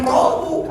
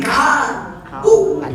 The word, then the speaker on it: kalbu: tidak kenapa kita ini makanya kalau ejaannya pakai latte ternyata bukan kolbu jadi kalbu sedangkan kolbu dengan kalbu beda kalbu mah gogok maka